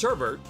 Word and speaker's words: sherbet: fruit juices sure Bert with an initial R in the second syllable pronounced Sherbert is less commonly used